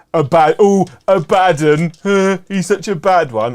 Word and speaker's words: Abaddon: reopened it escapades like Amidon has only one being two D's so it's a badon not Abaddon the game's Workshop released